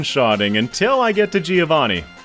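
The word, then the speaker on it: Giovanni: until I get to Giovani who I found out from my stream chat is pronounced joani but because he's the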